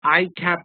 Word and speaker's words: ICAP: Therefore, an ICAP memo, not a ICAP memo, because ICAP starts with the sound I or ICAP, ICAP. Both the sounds, whether you take it this way or this way, both the sounds are vowel.